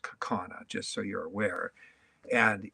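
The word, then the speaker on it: Kaukauna: C C and you finally tell well it's pronounced kakana just so you're aware and yeah your ride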